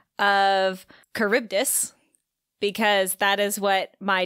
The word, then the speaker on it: Charybdis: So we're going to go with Charybdis. And that is spelled Charybdis.